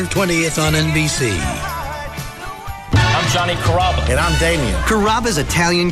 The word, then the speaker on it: Carrabba: You know, Carrabba, Carababa, Caramba. It's a really easy name to pronounce. It's Carrabba.